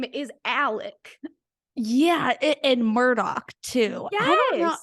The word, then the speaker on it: Alec: say because it's all they say it like Alec I like like it's like an e almost I feel like the first time I heard about like the actual trial coming about I kept hearing Alex murdaugh and I was like who the hell is Alex Murdoch and then I finally heard someone say Alec Murdoch and I was like